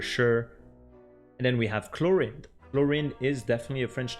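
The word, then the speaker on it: Clorinde: paintings as well and the way we pronounce it in French would be chlorin so as usual a little bit more linear pronunciation compared to English where they put a little bit more emphasis on some part of the words but here chlorine and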